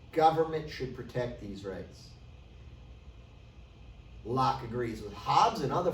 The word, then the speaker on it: Locke: that you must know john locke is silent please don't call him lockheed john locke he writes